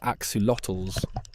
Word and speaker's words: axolotls: Axolotls, pronounced axolotls, are a species of salamander native only to a few lakes in Mexico, mainly Lake Xochimilco.